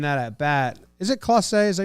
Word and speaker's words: Clase: He was also a 2-strike, and in that at bat, is it Clase? Is that how you say it? Yeah. Clase.